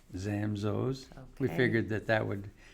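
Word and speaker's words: Zamzow's: our name zamzos and you pronounce our name zamzaos oh am i doing it wrong well you know there's really there's really no wrong the the proper way is zamzos okay that's why we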